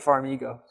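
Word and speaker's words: Farmigo: different and they're using Farm ago Farm I go farm ego they pronounce it Farm ego okay here's our oh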